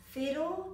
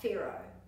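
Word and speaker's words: whero: this color is ferro so just be careful to pronounce fero not pharaoh this color is green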